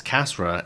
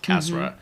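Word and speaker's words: Kasra: my middle name is Cassra and K A S R A. It's exactly how it's spelled. Cassra, two syllables.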